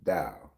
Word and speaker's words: Tao: Tao is pronounced with the D sound. Dao.